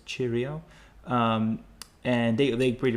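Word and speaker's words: Cirio: I think it's called Cheerio but it's c i r IO and the CI is uh pronounced cha so it's chirio um and they they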